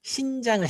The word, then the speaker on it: 신장: 선생님 발음이 좀 이상해서 잘못하면 안 된다. 심장이 아니라 신장을 얘기하는 거야.